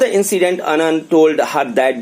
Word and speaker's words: Annan: The Anand लिखा है ANNAN but its pronunciation actual अन्ना, right. अन्ना जो बड़े लोग होते हैं, बड़े भाई लोग होते हैं, उनको साउथ में अन्ना कहा जाता है। तो अनन यहाँ स्पेलिंग है और अन्ना वैसे इसका प्रोनाउंसिएशन आप करिए।